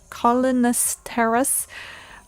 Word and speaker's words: cholinesterase: It can be counter-reacted with a cholinesterase inhibitor.